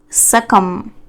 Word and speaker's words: succumb: Identify the sequence of consonant and vowel sounds in the word succumb. If you see, there are two kinds of pronunciation, IPA and phonetic. Phonetic pronunciation would be this, succumb. B is silent actually.